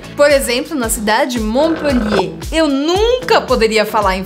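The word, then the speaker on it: Montpellier: essa de propósito porque em montpelier a gente tem dois l e um I mas eu falo montpelier pronunciando bem o l agora em Marseille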